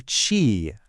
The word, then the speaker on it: q: For chi, our English starting point is going to be this sound chi, like the beginning of the word cheese.